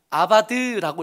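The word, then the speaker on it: עבד: 절하고 그를 섬기면, 섬기면이라는 단어가 저런 모양으로 생겼는데 저렇게 생긴 단어를 어떻게 읽냐 하면 아바드라고 읽어요.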